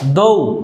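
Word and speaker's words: though: প্রত্যেকটি ওয়ার্ডের সাথেই জিএইচ আছে, প্রত্যেকটি ওয়ার্ডের সাথেই জিএইচ আছে এবং কোনোটারই উচ্চারণ হয়নি।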